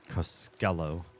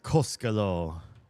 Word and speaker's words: Costello: I hate that she keeps saying Costello. It's Costello. The stress in every Finnish name and word ever is on the first syllable.